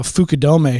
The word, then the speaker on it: Fukudome: I heard a funny story about this one time recently, but I do have a Fukudome shirt that I think I'll make you wear if it comes that I beat you the next time.